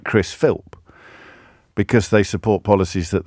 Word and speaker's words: Philp: I think it just Philps singular. It's Philp singular. I don't know why I'm getting pedantic about that, but I don't want him getting off the hook because people are getting his name wrong. It's Philp. Chris Philp.